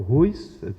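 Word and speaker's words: WHOIS: E você pode, acessando através dessas ferramentas, aí, o RUIS, né, que se chama aí, o RUIS, seria mais ou menos essa a pronúncia adequada, ferramentas disponíveis na internet, você consegue localizar a pessoa responsável que criou o nome de domínio.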